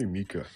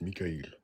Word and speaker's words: Mikhail: How is it properly pronounced? It's pronounced Mikhail. Mikhail. Oh, yeah, because I leave off the apostrophe LL, Mikhail. People, I believe Ems pronounce it Mikhail, but it's not his fault. He reads it as Qa. So the K and the H make that sound.